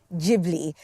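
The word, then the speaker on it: Ghibli: and this Festival celebrates the magic of Studio jibli I've Been Told that's how you say it cuz I'm like gibli gilby stud G Studio gilby the Beloved Animation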